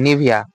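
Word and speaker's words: Nivea: এই নেইভটাকে আমরা উচ্চারণ করবো কি নিভিয়া।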